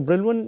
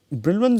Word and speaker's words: Brillouin: So, Brillouin is not the precise pronunciation of this word, this is a French name, but still for the sake of better sort of understanding, I will use the Brillouin pronunciation.